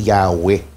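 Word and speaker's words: Yahweh: m pero pinapaniwalaan ang wika talaga ang wastong pagbigkas niyan eh yaw Mm.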